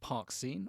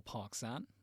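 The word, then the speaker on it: Parkesine: Either way, he created something called Parksine or Parksan, depends on how you pronounce it, in 1856, derived from cellulose.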